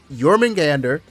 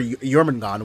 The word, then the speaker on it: Jormungandr: So, Jormungandr, or Jormungon, or however you want to pronounce her name, she's very good for um the rat.